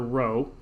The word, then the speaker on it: rho: And so it's pronounced rho, and it's made by sort of making an R, but then twisting the top of the R kind of in on itself like that.